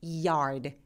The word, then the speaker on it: yard: 자, 그 다음에 야드도 야드보다는 E로 시작합니다. 그래서 yard 이렇게요.